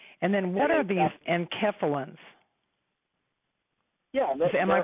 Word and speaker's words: enkephalins: I know we have endorphins, and then what are these enkephalins? Yeah, am I pronouncing it right? Enkephalins.